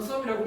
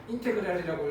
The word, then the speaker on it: 인테그랄: 자, 원래는 더하다는 의미의 썸에서 S자를 길게 늘렸었고 읽을 때는 물론 썸이라고 읽지 않고 인테그랄이라고 읽어요. 그래서 인테그랄 fx dx 하면 얘를 우리가 이제 적분 변수라고 그래요.